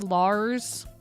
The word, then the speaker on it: Liz: Um, so my name is now not Liz, it's Lars. Just spelled like Liz, but you pronounce it Lars.